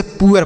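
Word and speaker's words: poor: तो इसे हम न तो पुर पढ़ेंगे ना तो पुर पढ़ ना तो पोर पढ़ेंगे। कुछ नहीं। आपको इसे पुअर पढ़ना होगा। ठीक है? तो यह हो गया पुअर।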